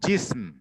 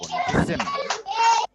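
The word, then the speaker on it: جسم: gym scene আর মিম এইটার উচ্চারণ হচ্ছে জিসম এটা জিমে যদিও জের জবর নাই কিন্তু জিমে একটা জের হবে মানে জি আর সিনে সাকুন হবে আর মিমেও সাকুন সিনে হবে জিসেম এটার উচ্চারণ হচ্ছে জিসেম জিসম আচ্ছা জিসেম জিসম হ্যাঁ হুম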